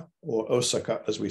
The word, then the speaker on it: Osaka: Sorry, I'm using the modern pronunciation, Osaka. I'm not using a Z.